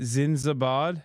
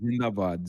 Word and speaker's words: Zindabad: At least Pakistan's how do you say it? Zinzabad? It's called Zindabad. Zindabad means long live.